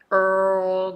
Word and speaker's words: Earl: the tongue up so Earl Grey Earl Grey Earl Grey Earl Grey so I didn't bring the tongue up for dark L so Earl and gray so that's the tongue movement let's practice Earl Grey